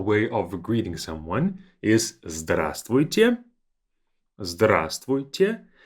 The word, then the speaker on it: здравствуйте: Two more that will be more of a formal way of greeting someone is здравствуйте. Здравствуйте. Notice that this V is silent. We say здравствуйте.